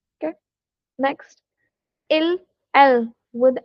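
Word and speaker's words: ils: Next, ill l with s. You you don't have to pronounce it ills or else. You just have to say ill l because in French the final s we don't pronounce.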